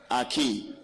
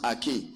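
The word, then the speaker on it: ἀρχή: Arche. You understand? Pronounced Arche.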